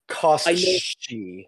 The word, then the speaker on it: Koschi: I'm gonna call him Kos. But it's Koschi.